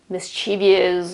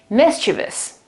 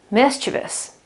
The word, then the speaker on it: mischievous: it like, I know, mischievous or mischievous or something like that. The accent is on the first syllable, so it's mischievous, mischievous, mischievous.